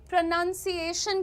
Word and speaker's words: pronunciation: Moving on everyone, प्रोनाउंसिएशन की बात कर लेते हैं।